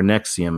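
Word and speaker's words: NXIVM: in XIV M her nexium is how they pronounce it okay brunette crook who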